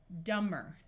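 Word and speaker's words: dumber: the suffix er dummer so again the B is silent when the m and b is at the end of a root we can still add a suffix and have the B be silent these two letter O's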